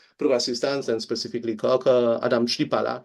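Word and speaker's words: Adam Chlipala: assistance and specifically Co Adam Shala his name should pronounce like this he spent his he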